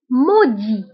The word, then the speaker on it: maudit: ملعون، maudit، maudit. هنا ايضا maudit كنكتبوها بالتف اخر الكلمه ولكن لا تنطق.